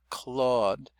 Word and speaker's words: Claude: Clawed and it's got a silent E that we don't say.